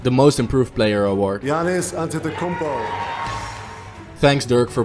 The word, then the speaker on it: Giannis Antetokounmpo: Giannis Antetokounmpo. Thanks Dirk for pronouncing his name right.